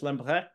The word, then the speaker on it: Lambrechts: There's a ch in there, Lambrecht. I want to say it like French, Lambrecht.